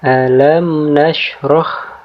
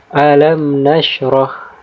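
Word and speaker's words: أَلَمْ نَشْرَحْ: Dan contoh yang kedua di sini ada alam nashrah, ya.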